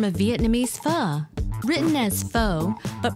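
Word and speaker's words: phở: Written as pho, but pronounced as pho, Nam Pham serves it up by the bowlful.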